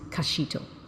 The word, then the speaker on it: Kizito: from the hands of Joy Kizito, which is pronounced Kashito.